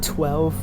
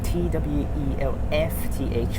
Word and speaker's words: twelfth: With 12 Road, which is one of the hardest words to pronounce. 12. It's so hard to pronounce this word. 12. Or something like that. TWELFTH, which is so hard to pronounce. 12. Even native speakers actually sometimes have difficulties in pronouncing this word.